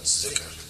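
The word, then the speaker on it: Dhikr: they were sitting there, how do you pronounce it? Because he said Dicker, and he said Zikr. So it's DH.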